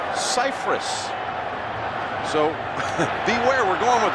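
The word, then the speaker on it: Scifres: and she later got called by a reporter to clarify that actually all these years everyone's pronounced his last name incorrectly. It's Cypress.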